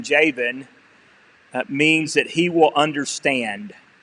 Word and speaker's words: Jabin: But since I have to try to pronounce it right, and his name is Jabin, even though it's with a B.